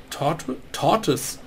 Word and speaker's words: tortoise: Und eine Tortoise, so spricht man es richtig aus, ist eine Landschildkröte.